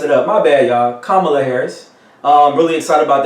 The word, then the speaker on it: Kamala: Kamala Harris. There you go. I've been you know what? I've been saying the whole weekend Kamala Harris, and then I messed it up. My bad, y'all. Kamala Harris.